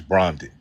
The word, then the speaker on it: Brandon: I know that, but you pronounced my name. Brandon is Brondon.